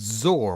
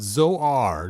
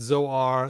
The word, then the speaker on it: Zoar: second so toys Wise It's zor like the word sore like you saw on an eagle zor sore now on filmation they call it Zoar Zohar or something like